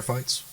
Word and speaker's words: FITE: Is there any way the audience could see any of your prior fights? Yeah, you have to buy them. My last fight was on Fight TV. It's spelled FITE.